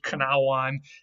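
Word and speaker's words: cnāwan: consonant at the beginning however in old english times that k was still pronounced because they actually wrote it on with that c which is usually how they would write a k sound in old english so this was kanawan and it was just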